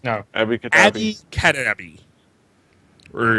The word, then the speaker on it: Abby Cadabby: Abby Cadabby.